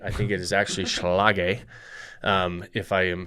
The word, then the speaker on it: Schlage: So we use the Schlage code, and I don't think I pronounced that right. I think it is actually Schlage, if I am pronouncing it correctly.